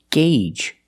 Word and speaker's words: gauge: word is this word it's pronounced Gage that's right the Au makes a long a sound Gage the long a like in day and say and pay gagee the first G